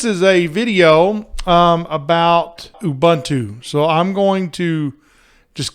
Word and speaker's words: Ubuntu: and if you notice i said it wrong it's ubuntu is how you actually say it so means humanity to